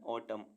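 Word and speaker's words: autumn: call call means स्तंभ ए यू टी यू एम एन ऑटम ऑटम means पतझड़ सी ओ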